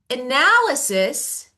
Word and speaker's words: analysis: But when Mm. I say analysis, I change stress to the second part.